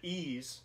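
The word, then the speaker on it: Ys: Another series that I'm a noob to, and I believe you call it Ease, is the way you pronounce it, but it's Ease 8.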